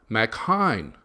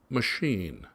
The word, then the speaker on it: Macchine: The coach said that the kid's name was spelled Macchine. Tom answered right away and said, Macchine. The coach said, actually, the kid pronounces it machine.